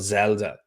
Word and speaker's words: Xelda: They have a company called Zelda. It's spelled XELDA, and they've done a really good job.